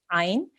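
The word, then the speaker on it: عين: It comes from your throat. Okay, ain. When you are joining to ain, you need to make sure that you make that sound. So it shouldn't sound like an alif. It needs to come from the throat, the middle of the throat.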